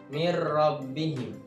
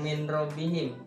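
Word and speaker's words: مِنْ رَبِّهِمْ: mati ketemu dengan rok mirrobbihim jadi cara bacanya bukan Min rabbihim tapi dimasukkan roknya dimasukkan ke huruf nun tanpa berdengung Jadi dibacanya Agak jelas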